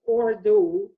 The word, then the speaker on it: Urdu: urdu is actually pronounced as ordo and literally the word